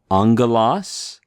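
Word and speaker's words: ἄγγελος: you have two gamas together in Greek it's pronounced like an NG so this is angalo Angelas obviously this is where we get our English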